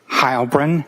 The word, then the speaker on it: Heilbrun: My name is Hybrin. That's spelled.